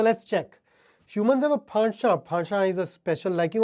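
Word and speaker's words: penchant: the British pronunciation is Pasha it is a word of French origin so you would have to speak it as if you were Himes nasal sounds Pasha the American pronunciation is pent so it basically means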